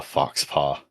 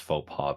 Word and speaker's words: faux pas: Like, look, okay, I know it's pronounced faux pas, but it's part of the vibe is that you're supposed to pronounce it wrong.